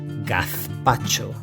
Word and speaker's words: gazpacho: You can have it any time of the year, so long as you pronounce it right. Gazpacho. Gazpacho.